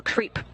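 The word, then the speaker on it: KREEP: a weird component that we call creep and it's spelled k r e e p and stands for potassium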